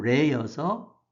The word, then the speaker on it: 례: 여기 사하고 예도 레여서 사례할 사가 됩니다. 예절은 레절이 두음법칙에서 우리가 첫 소리에 니을이 오면 발음하기 쉬운 것으로 바뀝니다. 그래서 예절이 돼서 우리가 예절이라고 합니다. 한자 원래의 소리는 레입니다. 예도레.